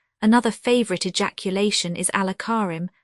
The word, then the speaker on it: Karim: Another favourite ejaculation is Allah Karim, which Turks pronounce Kayarim, equals Allah is all beneficent, meaning ask him, not me.